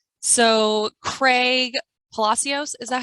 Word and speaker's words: Palacios: So Craig Palacios, is that how you pronounce it?